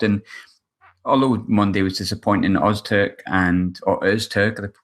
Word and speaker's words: Öztürk: And although Monday was disappointing, Öztürk, the correct pronunciation, and Jimmy Dunn have been relatively faultless.